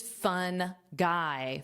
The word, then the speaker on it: fungi: There are actually a lot of funny shirts and jokes about this word because the pronunciation is fun guy. Fun guy.